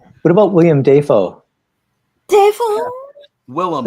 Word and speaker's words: Willem: What about William? What about William Dafoe? Willem. Like he said, his name's Willem Dafoe, but they pronounce it Dafoe.